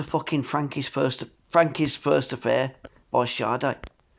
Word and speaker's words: Sade: Frankie's First Affair by Sade. It's spelt Sade. I thought that she was called a singer called Sade, but it's actually the band named after her called Sade, but it's pronounced as Sade.